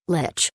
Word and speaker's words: Lich: Zekindo asks, Lich or Lick? I used to think it was one way, then found out it was the other. In my head, I still pronounce it wrong due to habit. This was answered by Yashual below this post, but it's still a #Ask Joker. So, Lich.